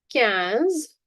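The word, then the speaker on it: quinze: Cans. Can cans. Remember it as Coca-Cola.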